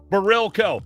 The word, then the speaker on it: Barilko: Barilko. You got to go to there and put Barilko in.